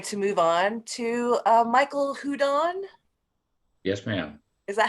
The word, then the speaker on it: Hudon: But we're going to move on to Michael Houdon. Yes, ma'am. Is that how you pronounce it? Yeah, Houdon.